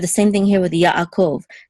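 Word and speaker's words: יעקב: same thing here with yaakov this iron we say it's a silent letter but if it if it follows a letter that has its own vowel we're going to separate the sounds also here so and here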